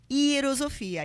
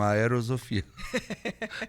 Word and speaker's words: Hierosofia: Atenção para como se fala? Hierosofia. E o Carlos vai explicar o que significa. Porque muita gente, quando a gente fala a Hierosofia, as pessoas entendem tudo junto e falam aerosofia. Não.